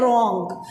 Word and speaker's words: wrong: इसी तरह एक वर्ड है रॉन्ग, उसके स्पेलिंग्स हैं WRONG. उसको रॉन्ग नहीं बोलना है, उसको रॉन्ग हम स्पीक करेंगे बिकॉज उसमें भी W साइलेंट है.